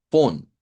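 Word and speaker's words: von: Esta palabra se pronuncia con una F, vea, lleva V, pero se cambia su sonido por F y decimos pon, pon.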